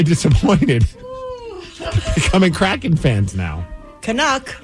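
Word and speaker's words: Canuck: becoming Kraken fans now kanuck rhymes with suck yeah okay good we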